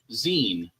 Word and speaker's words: zine: a short story zine, or zine if you're feeling spicy. I am not feeling spicy. For newer viewers, that's how John Balsisberger not only used to pronounce zine, but kicked back when he was corrected by multiple people. It was like, I just think it's zine.